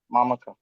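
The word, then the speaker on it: মামকাঃ: মামকা, মামকা আছে না, মামাকা ওখানে কি রয়েছে? মা মো কাহ বিসর্গ আছে তো, বিসর্গ আছে। বিসর্গ হ্যাঁ। থাকলে উচ্চারণ হবে মামকা, মামকা মামকা হটা পূর্ণ আসবে না, মামকা।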